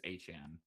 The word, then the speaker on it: Etienne: I think that Well, his he actually did say in his press conference that his the the correct pronunciation is Etienne.